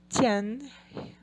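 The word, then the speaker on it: zhāng: E de jian, rifle.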